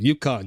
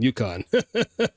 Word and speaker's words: Yukon: That's how you say it. Yukon. Yukon.